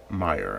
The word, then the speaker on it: Meijer: pronounce admires but I think it's just called Meijer and it looks like me I sure but it's Meijer apparently and so this water is from Grand